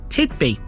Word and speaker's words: Tithby: Tithby, which is sometimes spelt with a Y as opposed to an I, is known to the locals as Tithby.